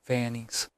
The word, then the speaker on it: Vance: I doubled back to the Blue Note in Harlem to grill Charlie Vance, pronounced Vannies.